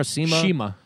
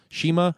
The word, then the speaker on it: Shima: And I think actually the how do you say? Is it Chima or Sima? Shima. Yeah.